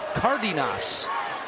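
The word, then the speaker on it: Cárdenas: to point out that Alvaro Cardenas is the way that he's been saying his name all year but before the game he told us that the right way to say his name is Cardenas so I know San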